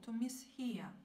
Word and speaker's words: mishear: Причем ударение все время падает на второй, на главный глагол, не на приставку, а на глагол. To mishear.